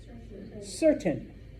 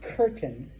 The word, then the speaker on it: certain: If you have the letter C before an E or an I, it is pronounced what we call a soft C, or S. So for example, this is English. What is that word? Certain. It's not curtain, all right? It's certain, okay?